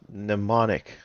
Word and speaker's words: mnemonic: it's not showing that to me it's it's pronounced mnemonic string what's a mnemonic what what does the